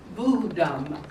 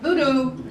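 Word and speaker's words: Vodou: to learn about the practice of vodam pronounced vodam not voodoo budam is a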